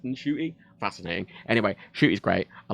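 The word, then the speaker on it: Ncuti: He was teaching everyone to pronounce Shooty, and there's this wonderful thing where he was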